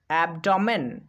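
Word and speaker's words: abdomen: এবার কিন্তু এ বি এর উচ্চারণ করতে হবে অ্যাপ, কারণ এরপরে আর কোনো বি নেই, সেই জন্য আমরা এ বিকে পড়ব অ্যাপ, ডি ও ডো, এম ই এন মেন, অ্যাবডমেন, অ্যাবডমেন মানে তলপেট।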